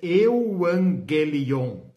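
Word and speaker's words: εὐαγγέλιον: A palavra no original é euangelion.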